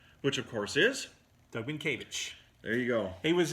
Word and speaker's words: Mientkiewicz: Mentkiewicz. Which, of course, is? Doug Mientkiewicz.